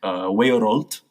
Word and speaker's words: weorold: So this again goes back to Old English, in which world is something would have been pronounced something like weorold.